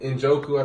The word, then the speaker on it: Njoku: They got a good tight end with Njoku, I think his name is.